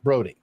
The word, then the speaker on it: Brody: And Nate actually, his last name is spelled differently, his actual last name, but they're pronounced the same, Brody.